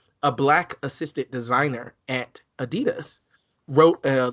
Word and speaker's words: adidas: up about adidas or adidas because they're german so i i was in germany and they were like oh adidas i was like oh it was not pronounced adidas okay i've never been